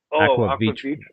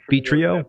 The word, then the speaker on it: Aqua Vitro: Aqua Vitro. Okay, I'm not even Vitrio. Is that how it's pronounced?